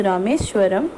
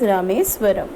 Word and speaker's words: Rameswaram: नाउ see this, your current pronunciation is रामेश्वरम, लेकिन ये अब्दुल कलाम ने अपनी तमिलियन लैंग्वेज के अकॉर्डिंग अपनी ऑटोबायोग्राफी लिखी है. That's why here the pronunciation is Rameswaram.